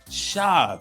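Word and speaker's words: שָׁוְא: is connecting to the Hebrew word shab it's pronounced shav you see that right here and I know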